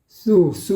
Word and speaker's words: 입술: " 입술 ", 그 발음 은 어렵네 요 . 입술 을 꽉 , 아주 꽉 오므려서 " 입술 " 이라 고 발음 해 보세요 . " 입술 ."